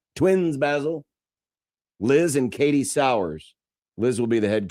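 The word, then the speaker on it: Sowers: But uh they announced today that now it's pronounced sour but it looks like sers because s o w e r s you know like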